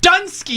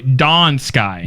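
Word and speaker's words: Dun Scaith: thought it was pronounced dun Sky dun Sky no no sorry Dawn Sky Dawn Sky yeah like the rising da sky so what the th is silent for you too yeah and the Y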